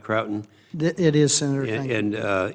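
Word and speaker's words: Croughton: the idea of consolidating the intelligence assets to Croton. Is that pronounced right, Croton?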